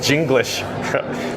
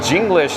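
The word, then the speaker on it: Jenglish: That's spelled J E N G L I S H. So, it's English with a J.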